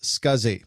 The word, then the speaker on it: SCSI: for the whole interface the abbreviation SCSI is pronounced scuzzy and this stands for